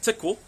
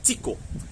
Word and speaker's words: tiko: So tick really put the emphasis on that I sound. Okay, it's pronounced as an e tik.